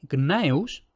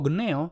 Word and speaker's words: Gnaeus: habían sido Gayus y Gnaeus, escritos con G y siempre pronunciado con G. Es decir, simple y llanamente, la primera consonante nunca se pronunció como K.